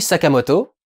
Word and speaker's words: Sakamoto: une élection les witches sakamoto c'est comme ça que se prononce avec son sergent araki